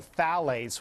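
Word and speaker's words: phthalates: tied to diabetes a concern that the chemical thales which when you look for it is spelled p t h a l e t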